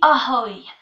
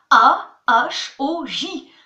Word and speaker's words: ahoj: Alors attention, le J est muet. C'est comme si je disais ahoy. J fait 2 L dans ahoy. Donc ahoy, ça s'écrit A-H-O-J. Sauf qu'on dit pas ahoj, on dit ahoy.